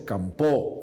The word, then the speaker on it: Campoo: La verdad es que pronunciamos Campoo, Feijóo, pronunciamos una O tónica un poco alargada, ¿no?